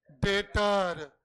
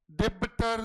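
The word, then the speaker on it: debtor: Because दिया becomes my डेटर डिबटर नहीं। बी is silent.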